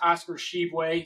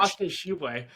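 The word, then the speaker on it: Tshiebwe: mentioned with my team and his name is pronounced Oscar Sheway. So, if you want to pronounce that again, you can give it another Oscar Sheway. I'm gonna I'm gonna take Oscar Sheway here uh to be on my team as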